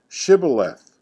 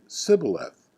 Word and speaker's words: shibboleth: would say to him then say shibboleth and he would say sybileth for he could not pronounce it right then they would take